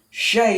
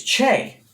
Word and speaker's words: Che: heard it said correctly shay is wrong shay with the so it's che with the ch pronounced like chase is right and his last name